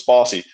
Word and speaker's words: Bosse: conversation before the interview boyd introduces himself as bussy that's how he pronounces his last name but right the community calls us bossy boyd bussey was the